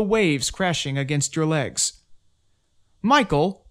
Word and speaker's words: Michael: crashing against your legs michael also pronounced mikael governs the element of